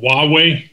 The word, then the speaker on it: Huawei: all heard a lot about this company called huawei that's how it's pronounced way and huawei is a telecommunications company